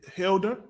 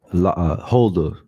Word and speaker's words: Huldah: Her name is Huldah, right? Her name is Huldah. Salakia, can you get me the meaning of Huldah, Baba Kashar? Khan, you said Hilda? Huldah.